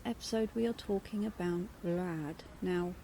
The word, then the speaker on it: Rad: we are talking about vlad now to pronounce it properly you should roll your r i can't so i